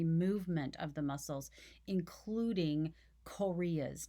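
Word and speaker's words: chorea: of the muscles including korea's now it's not spelled like the country korea it's c-h-o-r-e-a korea's are sudden fast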